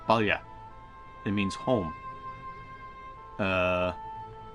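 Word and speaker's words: Baile: Like I said, this word here, that's an Irish word. That's Balya.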